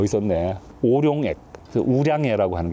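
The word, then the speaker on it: 五粮液: 우량예라고 하는 게 있잖아요. 우량예하고 수정방이 되게 같은 레벨로 치거든요. 마오타이는 좀 넘사벽이고 오룡액이라고 하는 게 우량예인데 중국 발음으로 이거는 이제 거기서 나온 미니어처예요.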